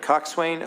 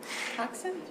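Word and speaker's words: coxswain: at heritton and a I never say this right Cox Swain on the heran crew team okay coxen coxen sorry I said I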